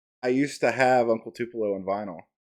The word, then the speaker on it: Uncle Tupelo: If anybody knows who that is, it's Uncle Tupelo is how you pronounce it.